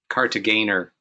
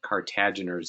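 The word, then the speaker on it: Kartagener: Cartagena. Oh. But no, but you pronounce it with the hard G, not the Cartageners. It's incorrectly done frequently. It's a German name, not a French name.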